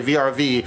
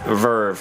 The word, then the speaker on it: VRV: product you to say vrv and have her look at you like yo asses ratata - I always thought of ERV because - it's three capital letters it is pronounced Verve yeah what was the